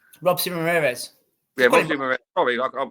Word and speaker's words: Robeisy Ramirez: Robeisy Ramirez.